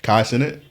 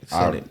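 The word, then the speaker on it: Kai Cenat: Kai Senate. Senate, yeah.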